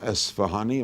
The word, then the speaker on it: Esfahani: All right, we have one more student to hear from, Michael Esfahani. Am I pronouncing it right?